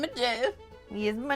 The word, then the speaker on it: Gef: My name is Jeff. Yes, my name is Jeff. My name is Jeff. But it's spelled different, G-E-F, because the small, secluded